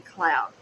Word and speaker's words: Cloyd: was Margaret Cloyd or actually I pronounced it Coy but I think it was supposed to be Cloud it's c-l-o-y-d but y'all